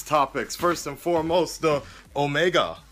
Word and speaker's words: Omegle: some of these topics first and foremost the Omega omegal it's crazy because I didn't want to call